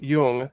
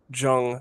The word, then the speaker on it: Jung: And that's pronounced Yung, not Jung, like the jungle, Swiss German.